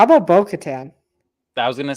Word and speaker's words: Bo-Katan: Um, By, how about Bo-Katan? I was gonna say the person who I think is gonna die is gonna rhyme with row and baton.